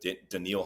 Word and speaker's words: Danielle: comparing Will Anderson with danil Hunter I think that's how you pronounce it Daniel spelled Danielle but I think it's danil yeah I think it's danal Danielle's my danial Hunter